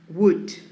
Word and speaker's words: would: this word would notice how do i pronounce would no o no l would just w the u on the d when you were in